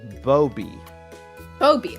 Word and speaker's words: Boby: uh Ultra Krill themselves it is pronounced Boby Boby okay so like Boba but with but with a B yes that comes directly